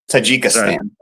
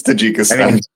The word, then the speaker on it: Tajikistan: I mean, pronounce it correctly. Tajikistan. Tajikistan. Tajikistan. That's unquestionably the correct pronunciation. Yes, it's Tajikistan.